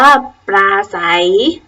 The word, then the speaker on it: ปราศรัย: เศรษฐี อ่าน ว่า เศรษฐี ตั้ง เรื่อง สังเกต ดู นะ คะ ทั้ง 5 คำ ที่ พูด เล่น เอา เสียง ไป ครู ออก เสียง เรือ หรือ เปล่า ไม่ ออก เสียง พยัญชนะ เรือ นะ คะ ติด ต่อ มา พยัญชนะ